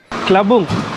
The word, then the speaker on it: Tlabung: கிளபுங்குடைய உச்சரிப்பு வந்து TLABUNG. கிளபுங் அந்த நகரத்துக்குள்ளே நாங்கள் வந்துட்டோம்.